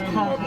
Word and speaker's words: Cajon: There you go, it's pronounced Cahoon. It says the Cahoon. Cajon.